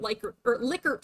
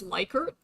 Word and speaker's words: Likert: Effectiveness of the product promotion was rated on a 9-point Likert scale. Okay, so I always read this as Likert. But technically it's actually pronounced Likert.